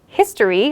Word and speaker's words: history: For example, if we take the word history, which begins with an H, we actually have to use a before it, not an, because the H in history is pronounced as a consonant.